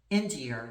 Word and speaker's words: Enginger: Y'all know Veronique, how do you say her name? Enginger, that's how you say it, Veronique Enginger.